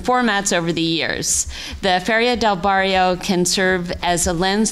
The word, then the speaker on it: Feria del Barrio: Through my research and reading, I have become particularly interested in the Feria del Barrio. Am I pronouncing that correctly?